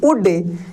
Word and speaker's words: would: अगर OULD एक साथ आता है, देखिए यहाँ पे OULD एक साथ आता है तो L साइलेंट होता है और O का भी प्रोनाउंसिएशन यहाँ पे U के रूप में होगा, यानी उड के रूप में पढ़ेंगे।